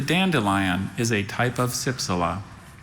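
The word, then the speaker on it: cypsela: There is a schwa in this word. That sound in the middle syllable trips up a lot of spellers. Can be any vowel in the alphabet, depending on the word.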